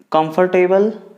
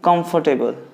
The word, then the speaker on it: comfortable: Comfortable, no, you don't have to say like that. Like R should be a silent. Comfortable, comfortable. You have to just break in the three parts syllables, like comfortable, comfortable.